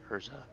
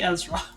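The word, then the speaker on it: Erza: scarlett hold on yeah they don't say ezra in the japanese they say urza so her name is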